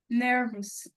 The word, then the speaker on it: nervous: brother, il était very nervous. Nerveuse. J'accentue vraiment ce que tu as dit. OK. Mais bon, déjà en anglais les R, ils se prononcent pas aussi fort qu'en français.